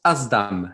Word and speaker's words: SDAM: Le mot se prononce Asdam, si on doit le dire, A-Z-D-A-M.